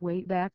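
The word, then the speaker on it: WABAC: time machine called the wab BAC machine pronounced way back to witness participate in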